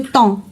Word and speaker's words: temps: Donc le temps, on prononce pas P ni S.